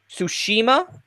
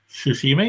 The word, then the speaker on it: Tsushima: Now, help me out with the pronunciation here of the second word in this title. Ghost of Tsushima. Tsushima, yeah.